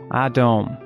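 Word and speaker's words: אדום: For example, red in Hebrew looks like this, and it's pronounced Adom, while blood looks like this, and is pronounced Dam.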